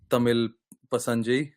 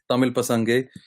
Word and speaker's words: Tamil Pasanga: Yeah, so I think it was a good game, good first game for Tamil Pasanjay. Did I say it right? No, Tamil Pasange. Gay. Okay, Tamil Pasange.